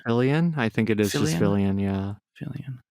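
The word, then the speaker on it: Fillion: Fillian. Fillian, I think it is.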